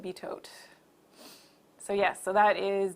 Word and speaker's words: Bitot: So it is betote spots, beto spots, bitot. I know everybody probably pronounces it differently. I call it betote.